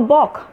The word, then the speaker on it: balk: So I made a balk. And if I say that way, he balked at making speech. So the L is silent, observed.